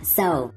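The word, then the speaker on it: sew: chúng ta sẽ nhớ tới con s là phát âm tiếng Anh là so s và động từ tiếng Việt là khâu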